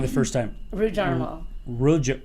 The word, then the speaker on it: Rudarmel: Rudarmel. Rudarmel. Rudarmel. See, if it's yeah. Oh, Kris. Rhymes with caramel. Caramel. Rudarmel, caramel. Caramel.